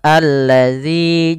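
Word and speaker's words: الَّذِي: kedua ayat yang kedua alladzi jama Ma pada lafal alladzi bila kita mendapati huruf alif yang bentuknya seperti ini di awal bacaan ini tidak dibaca dengan bacaan u tapi ia membacanya dengan a ini bukan tanda harakat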